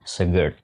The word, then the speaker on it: Segurt: Karena kami bisa bilang Segurt ini lebih nyaman atau lebih terdengar sedikit sophisticated jika pelafalannya Segurt. Sama seperti halnya yogurt.